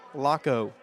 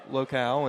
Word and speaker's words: Locko: Some key players for the Highlanders: Gavin Locko, and hopefully I continue to get that last name right. I've always pronounced it Locale, and I was informed that was incorrect.